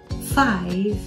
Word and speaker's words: five: Three, four, five. Veja que eu não falei five. Por quê? Porque o E final não é pronunciado, gente.